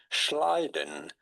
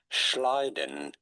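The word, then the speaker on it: Schleiden: How do you go about pronouncing those two German names? Schliden. Schliden and Schwan.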